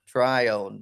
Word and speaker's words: Trion: how do you say your last name to Trion Trion try on Mr Trion I